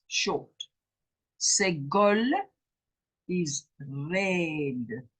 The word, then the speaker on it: segol: It is then called a chatef segol and pronounced as the e in a reduced red. It's red. It's not red, it's red. It's shorter. That is segol, and it is an e.